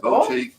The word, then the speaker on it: boutique: which is very # boutique boutiques. Boutiques boutiques. I don't know how to pronounce that. What's the southern way to say? I just say boutique. Boutique. Yeah, like boo. Like Halloween.